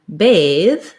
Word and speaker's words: bathe: both have this avow in bathe the a letter a is the a diphthong so it's more like the word bae or bade um so we could